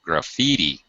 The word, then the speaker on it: graffiti: graffiti um graffiti yeah stress in the second syllable graffiti banana graffiti banana graffiti